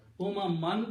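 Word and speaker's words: أممًا: You stopping there, so pronouncing umama. Two fathas should be pronounced as one alif.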